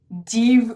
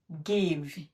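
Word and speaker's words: give: এখন এটিকে আমরা জিভ উচ্চারণ করব?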